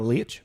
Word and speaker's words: Leitch: Oh, Leitch.